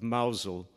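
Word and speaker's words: Mousehole: the Cornish Village of mausole that's spelled Mouse Hole by the way Megan and I lived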